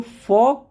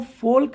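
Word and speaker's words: folk: वक टॉक यक फॉक तो फॉक को फोल्क नहीं बोलना है फॉल्क नहीं फॉक तो एल और के के कॉमिनेशन में ऑल द टाइम एल जो है वो एक साइलेंट लेटर है अब बात कर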